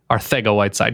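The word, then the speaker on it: Arcega-Whiteside: I really do want to go with Arthego-Whiteside, because that is technically how it's pronounced.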